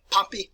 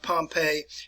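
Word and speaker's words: Pompey: an individual by the name of poppy and that's the way you pronounce it not pompeii next time we get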